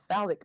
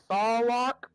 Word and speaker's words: Sarlacc: I know it's in it's called the Salic Pit. The Sarlacc. Yeah. Sarlacc. Yeah.